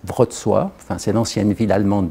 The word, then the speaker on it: Wrocław: Donc après différentes tentatives, etc., finalement, cette chaire est créée à l'université de, alors en français on dirait Wrocław, mais il prononce Wrocław, enfin c'est l'ancienne ville allemande de Breslau en fait.